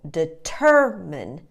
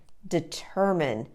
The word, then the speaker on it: determine: pronunciation you want to put the schwa weak little uh sound on the first and the third syllables and the stress is on the second syllable determine determine practice that with me